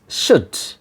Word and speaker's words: should: o u l d in the strong form the pronunciation will be sha sound then epsilon venta yes sha sound when epsilon i mean u sound and then da sound first one is sha